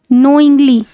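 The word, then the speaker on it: knowingly: तो आकर्षक ठीक है नोइंग्ली यहां पे के साइलेंट रहेगा नोइंग्ली नोइंग्ली मींस होता है जानबूझकर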